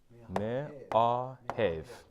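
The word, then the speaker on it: מאהב: This is if you see a mem with a shiva underneath it, so it's m, it's not me, it's not may, it's m, okay?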